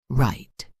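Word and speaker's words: write: Right, the W is silent.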